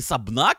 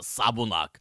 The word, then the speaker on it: Сабунак: что увидел её имя она не сабна она Сабу нак вот придётся переучивать произношение её имени Ну либо же в